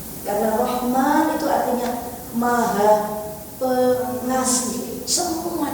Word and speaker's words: Rahman: nanti di hadis selanjutnya rahmannya nya mesti panjangnya ini panjang. Nah, rahmanirrahim. Karena rahman itu artinya maha pengasih.